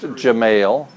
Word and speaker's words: Gemayel: so yes I do his name is Darja mail pronounced Gemayel and he was a